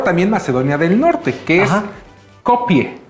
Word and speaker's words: Skopje: macedonia del Norte que es copie es copie así se pronuncia en español se escribe copque o copg pero es copie se encuentra en el